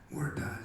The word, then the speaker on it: Waratah: Waratah is the proper way to say it.